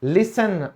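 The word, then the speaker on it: listen: सुनना, लिसन, अब यहां पर टी साइलेंट क्यों हुआ, आज आपको पता चला, EN की वजह से।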